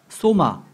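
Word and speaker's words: σῶμα: 소마.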